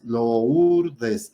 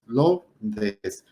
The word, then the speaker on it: Lourdes: Si alguien lo quiere hablar así, hacer énfasis y decir la palabra Lourdes, decimos Lourdes. La dividimos en 3 sílabas, Lourdes, y no son 3 sílabas, son 2 sílabas, Lourdes, porque la O y la U es un diptongo, y por regla los diptongos no se pueden separar, se van a la misma sílaba.